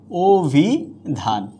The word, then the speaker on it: অভিধান: অভিধানে আমরা উচ্চারণ লিখেছিলাম ইকার আছে অ ভিন্ন অন্য স্বরধ্বনি, এখানে দিয়ে দিচ্ছি অভিধান। অভিধান অর্থাৎ এখানে অ ওকারে পরিণত হয়ে গেছে।